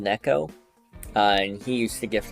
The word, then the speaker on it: Neko: Neko, N-E-K-O, that's how he wanted it pronounced.